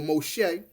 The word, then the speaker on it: Moshe: is she named him Moses or Moshe which is the perceive Hebrew pronunciation Moshe meaning I drew